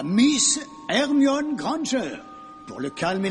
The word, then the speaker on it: Hermione: En anglais, c'est Hermione.